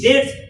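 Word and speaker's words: debts: হিজ ডেটস, ডিইবিটিএস, ডিইবিটিএস, date উচ্চারণটা, date মানে কি?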